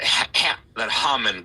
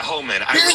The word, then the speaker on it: Homan: That Haman guy, or whatever, however you pronounce his last name. Yeah, Homan. Yeah. Yeah, Homan.